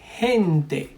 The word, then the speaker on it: gente: For example, G plus E or I, so la G más E or E sounds like he, like the H in English. For example, when you say hospital, the H, ha, he, that's the same sound here.